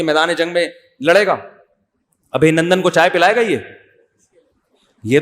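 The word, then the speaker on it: ابھینندن: ابھی نندن نہیں ہے، صحیح تلفظ کیا ہے بھائی؟ ابھی نندن.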